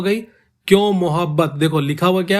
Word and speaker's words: मुहब्बत: क्यों मोहब्बत, देखो लिखा हुआ क्या है, मोहब्बत, बट एक्चुअली में उर्दू में जो इसका प्रोनाउंसिएशन होता है वो होता है मुहब्बत, मुहब्बत। देखो ध्यान से प्रोनाउंसिएशन, माँ